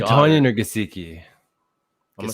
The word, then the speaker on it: Gesicki: I'm gonna say Tonyan or Gesicki. I'm gonna say Goddard. It's pronounced Gesicki.